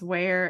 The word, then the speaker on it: Weir: I think it's Where. Yeah. Like Johnny Weir, the figure skater.